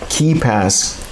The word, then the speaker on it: KeePass: lastpass okay there is also another tool called keepass it's spelled k-e-e-p-a-s-s this is again an open source